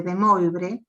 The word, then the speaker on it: De Moivre: de De Moivre, bien, que todo el mundo le dice de De Moivre, porque lo lee tal como se escribe, pero es De Moivre.